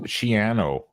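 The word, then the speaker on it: Schiano: because it's very very Irish but we still mispronounce GRE shano it's shano shano shano it's shano it rhes with pianoo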